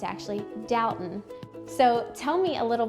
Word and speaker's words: Dalton: And a local, while I was there, told me that I was pronouncing it wrong and that it's actually Dalton.